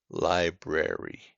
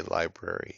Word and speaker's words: library: you know what a library is so make sure you pronounce both r's when you speak this word don't allow your tongue to get lazy and say library or to drop letters and R is an